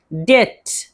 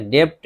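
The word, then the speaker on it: debt: डेट, डेट, इसमें बी है लेकिन बी को नहीं पढ़ेंगे, डेप्ट नहीं पढ़ेंगे, डेट, कर्ज।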